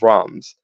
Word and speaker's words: Worms: by the name of Abraham of rams um which is spelled kind of like worms but that's that's not how you're supposed to say it anyway um said grimoire